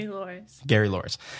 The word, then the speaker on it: Louris: was meant to be and Gary Lewis G no was it Gary L how do you just pronounce his name Gary Loris Gary lorris